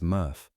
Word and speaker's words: MRF: When your recycling truck dumps its load at a materials recovery facility or MRF, which everyone in the industry pronounces murf, what happens next is genuinely kind of amazing.